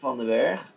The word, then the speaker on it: Van Den Berg: Stephan Van Den Berg, the short stacks. All right. How do you say that, Frank? Stephan Van Den Berg? Okay, because we would say Vandenberg. Van Den Berg, fair enough.